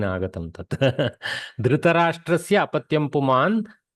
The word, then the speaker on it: धृतराष्ट्र: धार्तराष्ट्रः पुनः वदतु धार्तराष्ट्रः धृतराष्ट्रः अत्र धृतराष्ट्र इति प्रातिपदिकम् अत्र धृत् इति न करणीयं धृत् इति हलन्तं नास्ति किल धृतराष्ट्र इत्येव पठितव्यं संस्कृते धृतराष्ट्र सम्यक् धृतराष्ट्रस्य अपत्यं पुमान् कौरवः